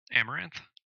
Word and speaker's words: Amaranthe: much but I'm trying remember it starts with Amaranthe how you say it amaranth yeah amaranth has she's a really good singer